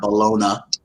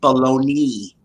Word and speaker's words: bologna: tomato you say tomato that's baloney dog not bologna you probably you might as well just say bellogna it's pronounced it's pronounced baloney no it's not just like you our big